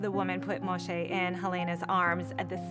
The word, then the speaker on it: Moxé: and I realized that the letter X would be pronounced like a show sound so I decided I'm gonna spell his name differently I'm gonna spell his name like X Moshe M Alexei and that